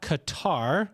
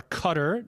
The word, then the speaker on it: Qatar: But we're going to go to Doha, Qatar, or Qatar, depending on how you say it, in the Middle East.